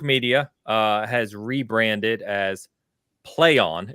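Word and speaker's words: Plaion: uh has rebranded as play on it's p-l-a-i-o-n yeah it is pronounced play on they confirmed uh they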